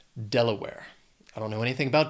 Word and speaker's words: Delaware: Has 3 syllables. Stress is on that first syllable. Delaware.